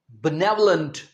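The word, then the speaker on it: benevolent: अगला वर्ड है स्पेलिंग देखें। बी ई एन ई वी ओ एल इ एन टी। इसका प्रोनंसिएशन है बनेवलेंट।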